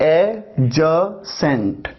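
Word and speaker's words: adjacent: जब मैं कहता हूं एडजेसेंट, ये एक वर्ड है जिसमें डी साइलेंट होता है, तो आप इसको प्रोनाउंस करते हैं एजसेंट। एजसेंट, डी का साउंड नहीं आता।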